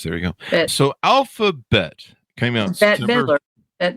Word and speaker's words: Alpha Bette: I tend to call her Alphabet. Alphabet. I should have asked that Bette before Davis, the show. like Bette Davis. Betty Davis eyes. There you go. Bette. So Alphabet came out Bette Midler.